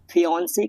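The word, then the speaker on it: fiancé: मंगेतर को इंग्लिश में फियांसे कहा जाता है। अगर मंगेतर लड़का हो तो फियांसे और अगर लड़की हो तो फियांसे। दोनों शब्दों का उच्चारण प्रोनाउंसिएशन एक जैसा होता है।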